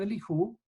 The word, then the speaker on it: Elihu: Dice Eliú, Eliú se escribe en realidad Elijú, ¿sí?